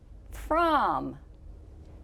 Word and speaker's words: from: is the word from the letter f is pronounced as we would expect the letter r is pronounced er as we would expect the letter m is also pronounced m as we would expect so the tricky letter is o listen to the word